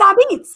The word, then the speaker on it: apizza: How do you pronounce APIZZA? A pizza? I don't even know what to say about it. Are there any other East Coast people watching this? I can't believe it's Abitz. It's Abitz. Abitz.